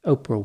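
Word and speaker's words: Orpah: starting with the background oprah winfrey was born in mississippi on january 29 1954 interestingly her name was actually spelled o-r-p-a-h but people mispronounced it and the name oprah is what caught on at age six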